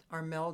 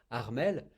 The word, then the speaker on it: Armel: You Anyway, know, when you're called Armel and you are in the US and someone asks your name and you say Armel and they say what? So you have to Armel, to spell it or to say it the English way.